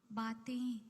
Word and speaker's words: बातें: baatein, don't unless needed, don't use that extra nasal uh, tone, because it is not how it's pronounced. Dil ki jo baatein, te में बिंदी है. So that nasal thing has to come only in te, not ba.